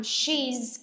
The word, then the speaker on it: she's: Chúng ta cố gắng phát cái âm she's cong lưỡi lên và có âm z she's và he's đối với nam. Đừng sử dụng she hoặc là he, nó nhầm lẫn với nhau. Khi chúng ta cong lưỡi lên là chúng ta có cảm giác chúng ta đang nói về người nữ.